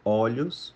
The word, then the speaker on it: olho: sílaba tônica alguns exemplos olho é no singular olhos no plural Então veja que o o fica aberto e olho no singular fica um ó fechado posto postos caroço caroços